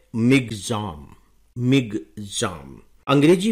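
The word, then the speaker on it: Michaung: निर्धारित किया जाता है तो यह है मिग जाम एम आई सी एच ए यू एन जी यह जो नाम है मिग जाम ये म्यामार ने दिया है जिसका पुराना नाम है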